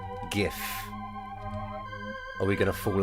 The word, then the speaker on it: GIF: I'm going with GIF. But a problem with that is that the creator of the format has said that it's pronounced like a soft G.